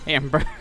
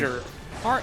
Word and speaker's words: Harbinger: You've been calling him Hamburg this whole time? Hannenberg, not Hamburg. It's a That's not even how you say it. What's his name again? Harbinger. Okay, I just remember Ham in the beginning for some reason. Don't ask. It's Harbinger Ganon.